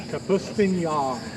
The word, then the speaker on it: Kapustin: And this, how's that pronounced again? Kapustin.